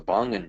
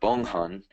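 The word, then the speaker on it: Bonghan: they've actually correlated these ducts called the Bongan ducts, or Bonghun ducts is the proper way to pronounce it.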